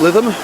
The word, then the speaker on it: Lytham: headed to Blackpool south spelt lie them but pronounced livin right let's get